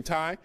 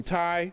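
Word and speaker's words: Tiye: This is Queen Ty, or T.A. Some people pronounce it Queen T, T-I-Y-E.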